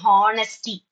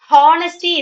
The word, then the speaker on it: honesty: Honesty is wrong pronunciation. Honesty is the best policy. Honesty. Very good. Honest or honesty is the way you have to pronounce because H is always silent in this word.